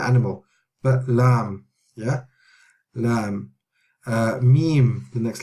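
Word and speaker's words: Mim: Meme is the same as English. It's meme, like M. Meme, meme, meme.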